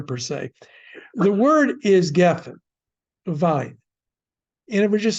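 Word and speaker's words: גפן: Geffen should be, the accent's on the first syllable, geffen.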